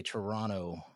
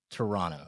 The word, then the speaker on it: Toronto: We have a Toronto. Toronto. Toronto. You tell me. Fresh. You said it right the first time. Don't pronounce the last T. Toronto.